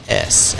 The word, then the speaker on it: Ouachitas: So dude, maybe I should say the Ouachitas. It's Ouachitas, and I made that our email handle, and I still regret it sometimes.